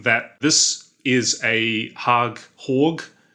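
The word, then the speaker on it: HÅG: this is a hog hog as it would be pronounced capisco pulse that's their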